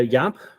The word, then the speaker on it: Jaap: at you know your business yeah so I Yap you can look me up on LinkedIn as well uh it's spelled j AAP there's not too many of